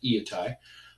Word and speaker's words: Iatai: that makes Viet I that's by the way how you pronounce that eeeh tae of what makes it